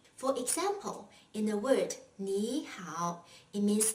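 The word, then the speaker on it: 你好: well in this case the first third tone is pronounced as a second tone for example in the word ni hao it means how are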